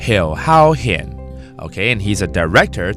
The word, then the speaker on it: 侯孝賢: How do you pronounce Ho Xiaoxian, this director's name in Hakka? Ho Hao Hian. Ho Hao Hian.